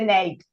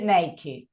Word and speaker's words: naked: Y encima, ya les digo, en este caso no se dice naked, se dice naked. Ahí, acá se pronuncia la E de la E de esta como una I, como decíamos hoy. Vieron que E in English es I.